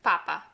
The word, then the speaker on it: papa: Since there's no accents on this word, the penultimate pa will be the one that we place the emphasis on, papa.